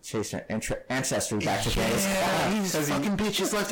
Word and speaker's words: Genghis Khan: It is Genghis Khan. That's the way it's pronounced properly in their languages.